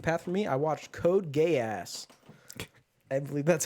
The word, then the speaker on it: Code Geass: I watched Code Geass. I believe that's how it's pronounced. Right? No. Are you familiar with Code Geass? It's Geass. It's Code Geass.